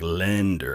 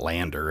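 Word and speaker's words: Länder: mock pronounce this is put an e after that vowel so like it's like lender it's not lander it's lender anyway um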